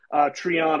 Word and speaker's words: Treon: And then Treon, I just say it rhymes with Freon, so that's pretty easy for folks to get.